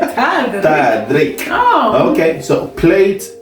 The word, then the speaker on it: tallrik: Tallrik. Tallrik. Tallrik. Tallrik. Did I say it right? Yeah. It sounds like a Frederick or something. Tallrik.